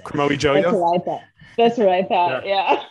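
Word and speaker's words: Kromowidjojo: Renomi Chromo Yo-Yo. No, you pronounce. Don't you pronounce the first J, but not the second one? Who's to say? Chromo Yo-Yo.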